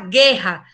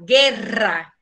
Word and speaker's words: guerra: A diferença está na pronúncia do R, você não fala guerra, fala guerra. Guerra, guitarra, tá? Porque essas duas R têm som forte, tá?